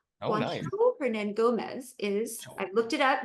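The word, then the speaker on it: Hernangómez: oh that is that is the actual pronunciation herand Gomez is I looked it up because I did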